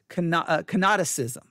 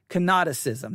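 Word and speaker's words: kenoticism: or canosis theory sometimes it's written out is canoticism cannoticism that's spelled k-e-n o-t-i-c-i-s-m cannoticism canoticism all right or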